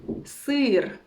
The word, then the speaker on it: сыр: So it's not сыр because sometimes it's difficult to pronounce it like like very wide, and usually beginners say like сыр or мило, but it's not correct. Just try to make it as wide as possible.